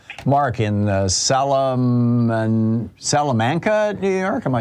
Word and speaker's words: Salamanca: i appreciate the call mark in the salomon salamanca new york am i saying it right mark